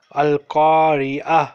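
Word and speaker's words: القارعة: You learned today that when ta is at the end of sentence, it is pronounced like ha.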